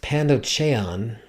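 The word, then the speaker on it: πανδοχεῖον: the Greek word for these ancient hotels is pronounced pandon and they liter literally translates to receives all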